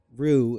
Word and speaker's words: roux: Rue, in case you're wondering, in case you've never